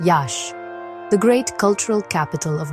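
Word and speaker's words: Iași: Here we find Yasi, pronounced Yash, the great cultural capital of the region.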